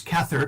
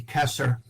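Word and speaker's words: Kether: potential and that is known as Cather ket th ER I will be using the Ashkenazi Hebrew for most of these pronunciations there's a Sephardic Hebrew also that would be Kesser but most of the Western occultists is the Ashkenazi and at the very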